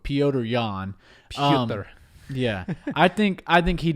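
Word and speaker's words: Petr Yan: I think Peter Yan and I might be saying his name wrong, but Piotr Yan.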